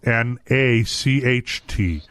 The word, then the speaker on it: Nacht: It's actually spelled N-A-C-H-T. But the pronunciation is nacht, right?